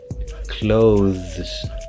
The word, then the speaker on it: clothes: your first language so you would have to use the th sound but the voice one it will sound something like this clothes I bought some new